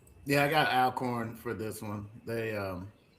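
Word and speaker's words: Alcorn: Um, Miles College plays all corn. I said it right for everybody. I said it right. Um, I got all corn winning this game. Carrie. Yeah, I got Alorn for this one.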